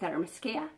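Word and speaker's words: Themyscira: where we started off on the island with Aramis Kia yes that's how it's pronounced people fairness Kia that's the island where she lives with her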